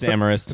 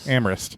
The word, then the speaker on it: Amherst: nearby is Smith college when you're saying that are you saying Amherst it's spell it's it's amorist it's amorist it's spelled Amherst SS say amist man people in the